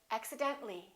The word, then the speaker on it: accidentally: few more words accident when we add accidentally we don't pronounce the AH we say accidentally accidentally one more general when